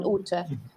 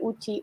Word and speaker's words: Ute: Ute can be anything. Ute, Uti, Uti, Ute. Who's a Ute? Yeah. Who's that? What's that? Because the E might be a schwa, or Utina to add